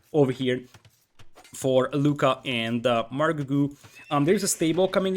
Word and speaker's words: Margougou: uh margu actually uh apparently i've been been pronouncing that wrong for the last half a year or so apologies for that so it's margu actually but we fix